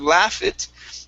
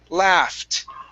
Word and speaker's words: laughed: slurped okay now uh the ed endings here okay we do not want to pronounce this e so instead of a slurpit it's slurped yes very good okay same thing here instead of laugh it it's laughed good so this is laughed